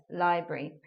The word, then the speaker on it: library: we're turning you otherwise three syllable words into a two syllable word library one of the pronunciations of that words in British English and looking lastly at